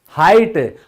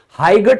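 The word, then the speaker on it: height: फिर लंबाई, हाइट, हाइगट बोलते हैं ना, कभी सुना है? कभी नहीं। क्यों? क्योंकि साइलेंट का रूल है भाई, तो ये साइलेंट है।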